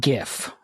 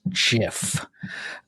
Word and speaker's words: GIF: It's not GIF, as lots of young people say, but it is GIF, as specified by the creator of the image format.